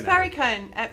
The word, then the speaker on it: Perricone: I can never pronounce it. Is it Perricone? It's Perricone, Perricone MD.